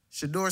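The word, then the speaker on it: Shedeur: Shador Sanders.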